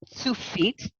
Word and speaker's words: Tsufit: all right there well my name is pronounced two feet two feet kind of like tsunami but I didn't ask